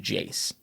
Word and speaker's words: Iayze: then later we have the present-day ias or properly pronounced jace however is considered to